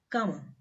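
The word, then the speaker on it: cama: we say Kama Kama so here you can see this C is coming before the letter A so we will pronounce this as Kama Kama means bed next example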